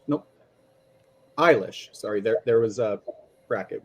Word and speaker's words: Eilis: Farrell the Irishman Who falls in love with Ellis nope eilish sorry there was a bracket with pronunciation can you start from the beginning please